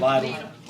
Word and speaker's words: Lidl: Lidl. Right, Lidl.